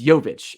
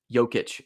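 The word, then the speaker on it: Jović: It's Jovic. It's Yeah. not Jokic.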